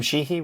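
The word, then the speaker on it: Sheehy: Tim how do you say his name Tim sheii right yeah yeah yeah all right I think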